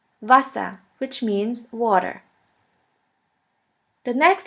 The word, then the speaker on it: Wasser: The next one is V, V, which sounds like the V in the word van. The German word with the letter V is Wasser, Wasser, which means water.